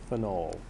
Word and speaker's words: phenol: Ortho ethyl right and phenol be careful I'm going to over pronounce that phenol because we're going to learn that there's also something called fenil with a y l at the end of it because